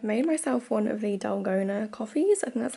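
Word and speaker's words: dalgona: happy i've made myself one of the dolgona coffees and that's how you say it which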